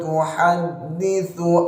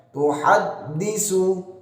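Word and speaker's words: تُحَدِّثُ: Bukan yau tapi yau, bukan yauma bukan, tapi yauma idzin tuhadditsu akhbaraha. Tuhadditsu pakai ta ya, jangan sampai pakai tuhaddisu.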